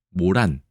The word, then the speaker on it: 모란: 목단이라고 얘기하죠 장미가 아니라 모란 목단 둘 다 가능하더군요 저는 모란만 되는 줄 알았는데 목단이라고 쓰고 모란이라고 읽습니다 우리나라에서는 장미라는게 한자라는 사실도 아시는